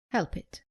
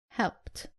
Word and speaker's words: helped: Common mistake, saying help it. It is helped.